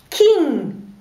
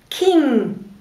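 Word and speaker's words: king: Важно научиться произносить этот носовой звук «на». Почему? Потому что, например, слово «кин», «кин», «не», «кин» означает родственник, а слово «кин» означает король. То есть очень важно научиться говорить «на».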